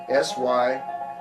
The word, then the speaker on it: Symynyshyn: It's like Mississippi, but it's 4 syllables. 2 of the syllables are the same. Okay, so it's Sim, in, ish, in. Symynyshyn.